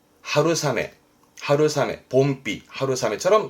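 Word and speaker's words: 春雨: 발음은 하루사메.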